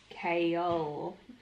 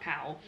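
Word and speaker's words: Chaol: it up the pronunciation it's kale not cow and it is nahimia not nehemiah kale and dorian are still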